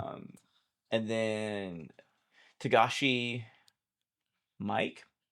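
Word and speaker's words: Miike: Um and then Tagashi Mike I think is how you say it's Mike but with two eyes.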